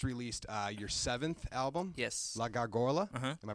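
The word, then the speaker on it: La Gárgola: La Gargola. Am I pronouncing it right? Sure. Sure. In Spanish it's La Gargola or the Gargoyle in English.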